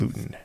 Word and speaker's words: Luton: That a big reason why that video got 1.4 million views is because I said Lutton and not Luton.